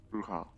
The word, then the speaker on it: bruja: The J is I pronounced as feel an like H.